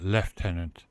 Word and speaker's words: Lieutenant: that why in uh in England they call it left tenant but they spell it Lieutenant because the the word comes from the French where they they say Lieutenant over here left tenant seems kind of strange well strange because they